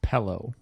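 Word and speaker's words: Pelé: Um, Brazil used to have that PLE guy. I remember FIFA 93 or some and that guy was important. It's pronounced pillow.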